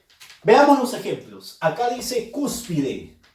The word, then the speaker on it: cúspide: Acá dice cúspide, cúspide. Fuerza de voz en la sílaba cus.